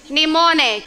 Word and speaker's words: Mnemonic: Mnemonic. So the first M is silent.